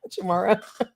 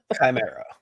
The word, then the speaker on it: Chimera: That I keep mispronouncing the name, Shimara. Chimera. Chimera.